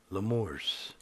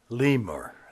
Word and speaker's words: lemur: L one the um lamores I think that's how that's pronounced lemur that's how it's pronounced okay looks like a